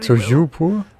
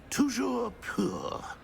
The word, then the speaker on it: Toujours pur: Oh, very Toujours pour? Toujours pur.